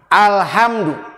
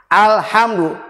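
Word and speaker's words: الحمد: Alhamdu. Alhamdu. Jangan alhamdu. Dibacanya alhamdu. Jadi lamnya dibaca dengan tegas, dikuncikan, lidahnya dirapatkan.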